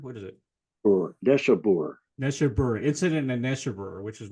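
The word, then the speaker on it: Neshabur: Neshaber, Incident in Neshaber, which is one of my favorite tunes.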